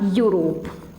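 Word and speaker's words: Europe: क्योंकि इसमें ई साइलेंट है, इसे हम क्या बोल रहे हैं, यूरोप, है ना।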